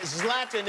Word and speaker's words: Zlatan: the stubhub center you want to see zlatan zlatan is the correct pronunciation yes love them thank you very much